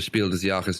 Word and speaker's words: Spiel des Jahres: diar things as no the day after the Spiel deak's nominations were announced am I pronouncing it okay Oliver that's perfect y thank